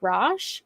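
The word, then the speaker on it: Rach: I think it's Raj is pronounced Raj.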